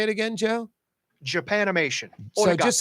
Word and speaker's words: Japanimation: Thank you, Japamation. Is it Japamation? How do you pronounce it, Jim?